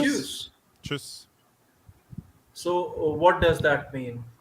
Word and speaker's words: Tschüss: Tschüss. Choose. Tschüss.